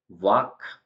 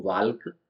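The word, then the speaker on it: walk: ल्क इसको नहीं बोलेंगे वाक मतलब चलना तो इसको वाल्क नहीं बोलेंगे हम और शुल्ड नहीं बोलेंगे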